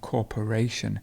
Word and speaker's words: corporation: corporate world corporation so here we've got corporate and then you have corporation notice how the stress changes correct correct the stress